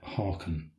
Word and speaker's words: Haakon: Harald in Norway, when I should have said Haakon.